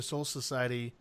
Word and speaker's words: Soul Society: Yeah, it's soul society. It's actually one word. Society. It's Oh like my gosh. soul and society, but then Right. all put in one.